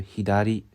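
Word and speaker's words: 左: 정답은 " 히다리 " 4 였습니다 .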